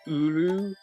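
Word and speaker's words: ウールー: it's pronounced Uru, but like it's spelled Wooloo.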